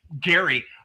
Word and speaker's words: Gerry: first Congress long before Eldridge Garry, uh, which is actually how his last name is pronounced before he did it like in 1820 or something.